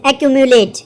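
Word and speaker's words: accumulate: The word is एक्यूमुलेट, क्या बोलते हैं इसको, एक्यूमुलेट। अब देखो एक्यूमुलेट को तोड़ते हैं हम, वैक्यूम, एक्यूम की प्रोनाउंसिएशन वैक्यूम जैसी लग रही है ना, प्लस में लेट, ठीक है, तो वैक्यूम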